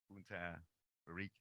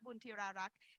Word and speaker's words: Buntirarak: Bunta Barik. My apologies. Bunta Rarak. Butchered her name.